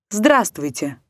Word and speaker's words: здравствуйте: и так сделаем вывод когда в слове встречаются сразу три или четыре согласных один из них может не произноситься так не произносятся звуки о слове солнце словах лестница окрестность до словах сердце праздник словах чувство здравствуйте буква обозначающая не произносимый